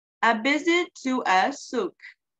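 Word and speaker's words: souk: a visit to a suk it's pronounced suk let's read aloud about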